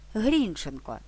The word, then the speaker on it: Грінченко: коментарях було зауважено що наголос у прізвищі автора словника живої української мови падає на перший склад Грінченко Однак я не зважаючи